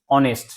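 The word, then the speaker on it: honest: এইচর কি হইছে ডাইরেক্ট ইয়ার করা হয়েছে কি অনেস্ট হনেস্ট কিন্তু আমি উচ্চারণ করা নাই সেই কারণে আমার এই সাইলেন্ট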